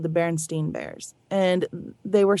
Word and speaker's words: Berenstain: So it would be pronounced Berenstain instead of Berenstein or Stein.